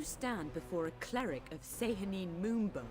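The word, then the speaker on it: Sehanine Moonbow: foolish miscreants you stand before a cleric of say honeymoon bow say her name that's how you pronounce it okay so it's a little annoying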